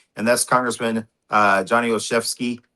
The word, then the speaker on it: Olszewski: that's Congressman uh, Johnny Oeski. Did I pronounce that right, Johnny? You got it. Johnny Oeski.